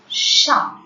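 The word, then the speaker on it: chat: So, C-H is ish, A-R, T remains silent as I have already told the rule. The last consonant will remain silent in a French word. So, C-H-A-T is sha.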